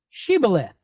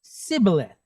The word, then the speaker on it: shibboleth: them say this word shibboleth they wrote it out to say this word so the ephraimites didn't pronounce it the same they pronounced it as sibileth well that's how they